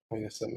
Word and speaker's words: Heinessen: Yang Wenli returns to the Free Planets Alliance capital on the planet Heinessen. Is that how you pronounce it? Heinessen, yeah. Yeah, like the beer.